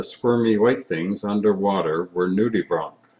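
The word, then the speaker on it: nudibranch: and that the squirmy white things underwater were nudie Bron spelled like Branch but pronounced Bron I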